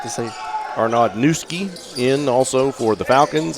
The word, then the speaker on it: Nkusi: Well, Newski is spelled Nkusi. Yes. So, but I did get from their head coach the pronunciation. So if that's how the coach says it, then Mom can't be mad at me if I mispronounce it.